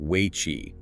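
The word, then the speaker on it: wei qi: That energetic perimeter is called wayi spelled we ei pronounced wayi.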